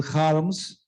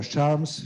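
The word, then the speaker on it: Kharms: very much by daniel harms or charms he's pronounced in different ways but it is incredible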